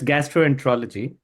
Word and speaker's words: gastroenterology: So so it's gastroenterology.